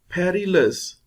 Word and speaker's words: perilous: Perilous. This sign shows peri will be stressed.